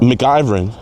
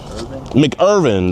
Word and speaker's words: McIrvin: It's not McIvern. MacGyver. How you say it? McIrvin.